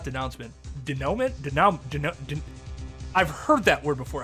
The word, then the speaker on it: denouement: And the denouncement of that argument, not denouncement, denouement? I've heard that word before. How is it pronounced?